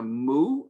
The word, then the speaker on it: mu: As in English, in English students, I would say like a cow.